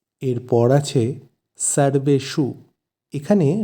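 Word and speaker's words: সর্বেষু: অর্থ ও এরপর আছে সর্বেশু এখানে স এর উচ্চারণ গুলো একটু লক্ষ্য করতে হবে যেহেতু দুটো স আছে প্রথমটি দন্তস তাই এর উচ্চারণ হবে সা আর শেষেরটি মধ্যন্য তাই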